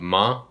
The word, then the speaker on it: Man: So, the region of the country that we're planning on going to is the region of Ma. It's spelled like man, but you leave off the N, so it's M.